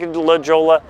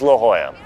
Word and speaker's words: La Jolla: me on this one it looks like De La Jolla it's not it's La Jolla now also there's a